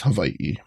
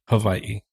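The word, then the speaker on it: Hawaiʻi: you can you know people say it like with a V Hawaii or people even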